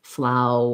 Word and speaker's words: flower: the same pronunciation um they both have an ow and an er um so just notice that this one you might not think of sounding the same but we have that sound because we're going from the ow diphthong into the er part um so they both